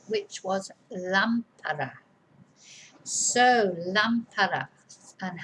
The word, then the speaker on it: lámpara: If we didn't have an accent in this word, it would be lampara, because the stress would be on the second A, from the end, second syllable from the end, the penultimate syllable. Lampara, not lampara.